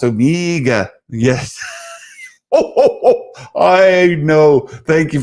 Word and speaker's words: Omega: AG, it's pronounced Omega.